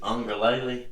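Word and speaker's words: Uiagalelei: Ugalele is always. Ugalele. If he's we may ready be to- pronouncing it wrong. If he's DJ ready to take Wangalele's how he pronounces it. Ungalele. DJ Wangalele's what How the the heck do you know that? Because I watched him So say it's it. not Ugalele.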